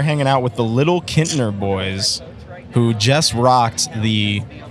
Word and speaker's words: Kintner: so we are hanging out with the Little Kintner Boys, who just rocked the Replay Guitar Exchange stage right here at Tibbetts Corner at Gasparilla Music Fest. So first off, where does the name come from, Little Kintner Boys?